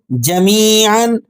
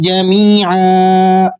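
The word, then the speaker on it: جميعا: جا، میم یا زیر می، جمی، عین 2 زبر عن، جمیعا۔ اب پوری آیت کو رواں انداز میں کس طرح سے پڑھا جائے گا وہ بھی سن لیجئے گا۔ قل للہ الشفاعت جمیعا، قل للہ الشفاعت جمیعا۔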